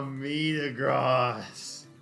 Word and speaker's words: Metagross: Same as you pronounce Facebook's new name, Meta. Meta Gross. It's not gross though. It's Meta Gross.